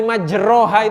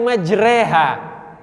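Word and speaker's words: مجريها: membaca ayat ini Bismillahi majroha itu mustahil pasti gurunya mengatakan bukan untuk ayat ini bacanya Bismillahi majreha tulisannya roh kok dibacanya reh itu dari mana itu karena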